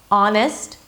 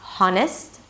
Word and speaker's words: honest: 'honest': not 'haa-n'st'.